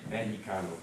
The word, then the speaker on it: Mexicano: Mexicano. Yeah, the X is pronounced, when it's by itself, like a J.